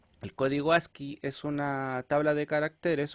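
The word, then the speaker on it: ASCII: el código asi o as c i i se pronuncia asi el conjunto de caracteres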